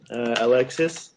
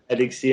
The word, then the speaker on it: Alexis: Alexis. Alexis. All right. Alexis in French, but whatever.